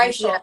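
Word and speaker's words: Reichl: Even Ruth Raquel. Is that how I say her name properly? Raquel. Rachel. Yeah. Reichel.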